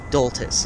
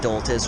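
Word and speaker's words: Doltes: I think it's D-O-L-T-E-S. Doltis is how I'm gonna say his name.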